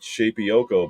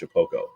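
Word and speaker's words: Shapeoko: So it's spelled Shapioko, but it's pronounced Shapoko.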